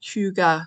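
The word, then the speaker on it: Hygge: and it's Samantha but I think it's pronounced the like Huga Stitcher um and they're doing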